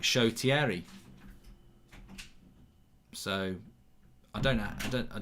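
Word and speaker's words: Shoretire: at uh manchester united who everyone calls him short tire because that's what it looks like it is and um apparently it's pronounced chotieri so i don't know i don't i don't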